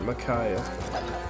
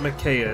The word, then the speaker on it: Micaiah: Thank you for your support, Micaiah. It's not Micaiah, it's Micaiah.